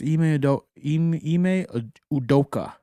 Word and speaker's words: Ime Udoka: yeah, it's Ime Udoka, right?